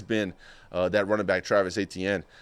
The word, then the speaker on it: Etienne: that running back, Travis Etienne. I might be saying it wrong. He says it's Achane now, but I'm not going to try to say it a certain way. I've always learned as Travis Etienne.